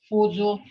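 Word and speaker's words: fuco: Remember, this is pronounced Fuzu.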